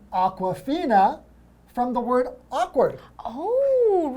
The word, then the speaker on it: Awkwafina: Did you know Awkwafina is also the name of a bottled water? But it's spelled differently, It's right? spelled differently, but it sounds the same.